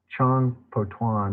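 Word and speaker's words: Chang Po-tuan: the so-called southern school of complete reality dialism chong po tuan is is spelled c-h-a-n-g-p-o hyphen tuan and it said uh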